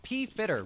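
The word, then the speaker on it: Pfitter: It's P Fitter. Really? Really? I like Fitter better. Like the silent P mixed in with the F. But fine. If it's P Fitter, it is P Fitter.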